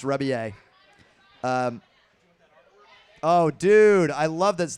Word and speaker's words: Rebillet: The last name is Rebillet. It looks like Rebillet. It's pronounced Rebillet.